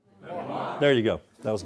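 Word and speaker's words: MIMWAR!: Memoir. All right, so all together. Memoir. You got to give it the oomph at the end. Memoir.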